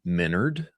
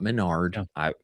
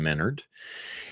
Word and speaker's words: Menard: Our friend Jordan Menard, I believe is how his last name is properly pronounced, not Menard. Jordan Menard.